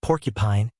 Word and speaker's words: porcupine: Porcupine has stress on the first syllable.